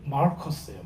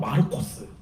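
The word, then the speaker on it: Μάρκος: 마가의 이름은 마르커스예요. 마르커스. 네. 지금 영어 발음은 마르커스고요. 그때 당시에 헬라 발음으로는 마르코스.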